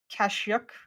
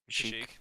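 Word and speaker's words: Kashyyyk: 3 is Kashyyk, I think is how it's pronounced. Kashyyk. Kashyyk. Kind of depends on who you ask.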